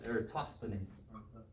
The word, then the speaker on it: Eratosthenes: Eratosthenes. Eratosthenes. The th is a th, not a t from the final.